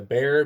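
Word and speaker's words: Behr: It's called the Bear, B-E-H-R. It's spelled exactly like the paint.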